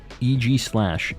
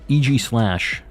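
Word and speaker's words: Aegislash: love to see it uh AIS slash is pronounced EG slash EG slash good old EG slash to be fair using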